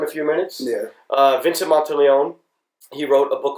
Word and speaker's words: Monteleone: Vincent Monteleone.